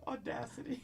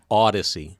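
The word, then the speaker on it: Audacy: Audacity. Yeah. Oh, what is it? How's it pronounced? Odyssey. Odyssey.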